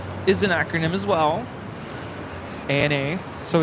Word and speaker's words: ANA: the pawn Airways is an acronym as well Ana so it's not Anna I've never heard anybody say Anna so it' be right with Eva then it